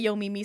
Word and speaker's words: Yomi: So, it is Yomi.